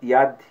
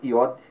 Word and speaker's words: Yud: Essa, inclusive, eu pronunciei Yud. Tem muitos que falam Yad, outros falam Iod, mas é a mesma letra.